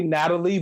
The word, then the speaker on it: Nathalie: no, name is- no, it's No, They say Natalie, but it's spelled Nathalie. Nathalie. Yeah, TH.